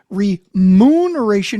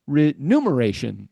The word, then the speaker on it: remuneration: So then why does it say up here remuneration is so rare? What they're saying is it's so rare in fact that most people who do use it in day-to-day life mispronounce it as renumeration.